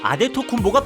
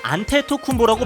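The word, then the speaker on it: Antetokounmpo: 이때 그는 나이지리아식으로는 아데토쿤보, 그리스식으로는 안테토쿤보라고 밝히며 편한 대로 불러달라고 했죠.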